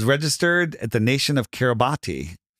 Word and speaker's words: Kiribati: So, and then all it said it was registered at the nation of Kiribati. Now, it's called Karibash, but it's spelled Kiribati, K-A-R-I-B-A-T-I.